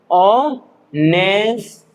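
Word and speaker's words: honest: ऑनेस्ट क्या पढ़ना है? ऑनेस्ट ठीक है? ऑनेस्ट इसमें एच साइलेंट होता है।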